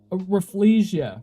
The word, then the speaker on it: Rafflesia: Rafflesia. Rafflesia. I don't know I don't know what the pronunciation is. It's a Raffle plus Sia, the singer, combined as a flower.